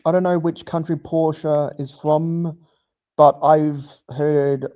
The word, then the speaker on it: Porsche: pronounced Porsche, not not Porsche, which is where I first learned of its true pronunciation. Bluegrass says be. Okay. Okay. So, Okay. So, Porsche is German. Well, that explains the E at the end.